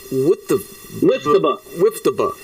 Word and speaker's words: WIIFTBP: on the end, but we make the P silent unless you can knock it down.